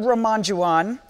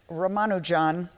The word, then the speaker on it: Ramanujan: His name is Srinivasa Ramanujan, although you may hear him pronounced as Ramanujan or other things, because there is apparently some difference in the way to say his name.